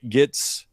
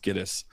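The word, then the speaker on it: Gittes: Enter Jake Gits or Gettis. I think it's pronounced Gettis. It's funny cuz it's Giddis cuz you know, no across this movie keeps calling him Gits.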